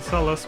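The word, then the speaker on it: Sellas: a region or story called Celus, which is spelled S E L L A S.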